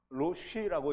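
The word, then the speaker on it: ראש: 이 스트롱코드 7219라는 이 단어는 로시라고 읽는데요.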